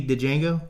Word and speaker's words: Django: you know that movie, Django? I know you love this movie. Django, D is silent.